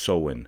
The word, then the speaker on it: Samhain: It says its origins come from like 2,000 years back, ancient Celtic festival pronounced Samhain.